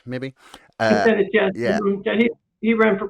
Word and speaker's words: Kucinich: How do I pronounce that? Kucinich, maybe. Kucinich, yes.